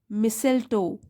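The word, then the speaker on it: Mistletoe: इन the quite town of मिसेल्टो, T silent है यहाँ पे, मिसेल्टो।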